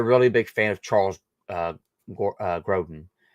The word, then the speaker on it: Grodin: But I'm actually a really big fan of Charles Grodin. Right? That's how you say his name. Yeah, right? Charles Grodin.